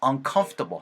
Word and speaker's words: uncomfortable: for의 강세를 찍어가지고 comfortable 사운드로 comfortable 이라고 말씀드렸었어요.